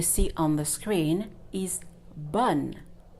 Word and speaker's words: bonne: This word that you see on the screen is bonne. Not bonnet or bonheur. No, bonne. Why? Because the E without an accent is silent.